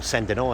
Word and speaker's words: Saint Denis: If you want to find an example of Gothic cathedrals, you can look at the Basilica of Saint Denis, or Saint Denis as it should be pronounced, in the north of France.